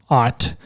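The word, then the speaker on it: aught: you saw um but it's pronounced ott apparently ott that's it's still o-u-g-h-d i thought about see i thought somebody i thought somebody else wrote it was a-u-g-h-t oh i don't know i saw o-u maybe it was oh you and they typed it should be pronounced like a you maybe i don't know anyways but anyways it's pronounced aut so if you're looking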